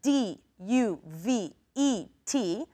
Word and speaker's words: duvet: a duvet a duvet this word is spelled D u v e T but we don't pronounce the T we say duvet okay